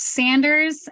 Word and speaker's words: Saunders: do you pronounce it so it's pronounced Sanders but I just got